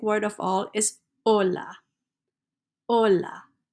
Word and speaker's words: hola: of all is Ola Ola don't pronounce H's in Spanish is just Ola you can say Ola